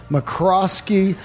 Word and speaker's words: McRoskey: handmade episode featuring a incredible company right here McCroskey mattresses am I saying it right you are